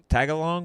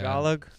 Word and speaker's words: Tagalog: I'd love to learn some fucking Tagalong. What do they speak? Yeah, I think it is. Tagalog, yeah. Tagalog. Is that how you say it? I always say it like the cookie.